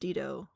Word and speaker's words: Dido: Major road down here spelled Dido, but pronounced Dido with emphasis on the first half.